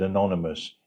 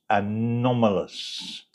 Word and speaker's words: anomalous: uaps unidentified anomalous phenomena I think I mispronounced that last time and said Anonymous it's anomalous that's a wide phrase it's